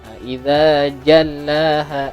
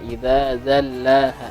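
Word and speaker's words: إذا جلاها: Tadi tepuh huruf idza jallaha, tadi terbacanya idza zallaha, ke huruf zal keduanya ya.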